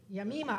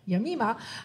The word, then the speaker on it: Jemima: That's how you pronounce it. Yamima. I was like, good look on that. Yamima, a former professional triathlete.